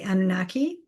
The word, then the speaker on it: Anunnaki: I know other people spell it differently, but that's how I've been told. It's the Anunnaki.